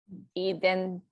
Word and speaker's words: identificar: Spanish vowels are one of the biggest tripping points for people with reading and pronunciation. A, E, O, U. Say that, Erin. A, E, O, U. When you see those letters, that's how they sound.